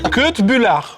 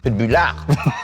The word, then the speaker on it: Köttbullar: Köttbullar. Qu'est-ce que ça signifie? dit comme tu l'as dit, c'est un gros mot. T'as mal mis l'accent tonique. Que de bullard.